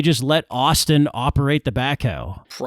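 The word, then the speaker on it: backhoe: of the heavy equipment that was used as backho, which is how I also pronounce it. Michael Cole kept saying Michael Cole kept saying backo. He's got the backo.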